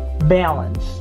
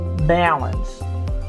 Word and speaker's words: balance: as a so trial balance balance it's almost like a letter e but there's an a in the beginning so ae is the